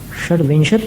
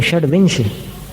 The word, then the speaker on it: षड्विंश: षड्विंशत नहीं, षड्विंश, षड्विंश पाठ है वो, विंशति के ती का लोप हो गया है और वो ती चलता ही है उसमें।